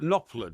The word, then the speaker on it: Knopfler: Mark Knopfler, do you mean? Knopfler. Knopfler, yeah. Knopfler, the P Sorry, is silent, isn't what it?